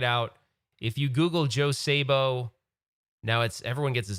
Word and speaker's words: Szabo: If you Google Joe Sabo, now everyone gets his name wrong.